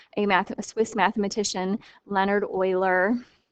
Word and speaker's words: Euler: math swiss mathematician leonard euler it sounds like euler but it's spelled e-u-l-e-r